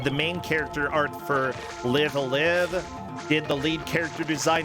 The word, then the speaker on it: Live A Live: It's pronounced live a live, not live a live.